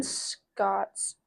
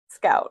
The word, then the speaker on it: Scout: Prejudice growing Scott's perspective Scout not D I keep saying SC Scot that's bad I'm going to say Scot the entire time maybe preface it by saying scout scout it's spelled c s c o u t I know it's just